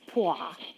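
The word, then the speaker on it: Poire: looked it up, and that's how you say it.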